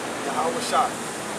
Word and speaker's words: YAHAWASHI: You got Yah, right? You got okay? You got Wah, and you got Shah, and you got I. YAHAWASHI.